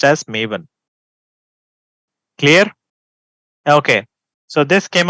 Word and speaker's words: Maven: guys so pronunciation is also important some people pronounce it as Maan ma one that is incorrect it should be pronounced as mavan clear okay so this came up in 2003